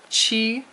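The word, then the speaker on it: qī: chi Chi and the Q does a CH sound in Roma pinion Chi eight is ba first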